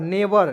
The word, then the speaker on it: never: NEVER, नेवर। क्या पढ़ेंगे? NE ने, VE व, आर से लिखेंगे र, नेवर। यहाँ पे ई साइलेंट रखेंगे, ठीक है।